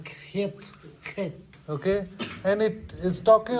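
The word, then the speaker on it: ח: and it's pronounced very in a gruff way. यो चाहिँ अलि खस्रो तरिकामा खेत।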